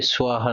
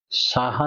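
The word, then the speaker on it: স্বাহা: করেননি যে সকালে উঠে সোয়াহার নাম নিতে হচ্ছে সাহা নয় সোয়াহা এই সোয়াহাটা কে কেন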